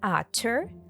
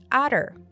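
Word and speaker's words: utter: extreme her hatred is you can pronounce it with a true te otter or with a flap tea otter and you can ccate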